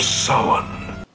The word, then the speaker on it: Samhain: The Festival of Samhain. Hey, pronounced it right.